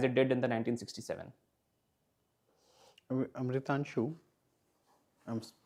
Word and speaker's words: Amritanshu: Amritanshu, I'm pronouncing your name right, no? Yes, sir. Amritanshu.